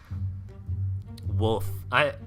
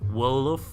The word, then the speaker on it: Wolof: Wolf. Is that how you're supposed to say it? Wolf? You gotta really pronounce that L to not get made fun of. Wolof.